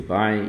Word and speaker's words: buy: To buy igual a... Então, Gustavo, esse aqui pronuncia buy igual tchau, mas ele é um verbo, tá bom?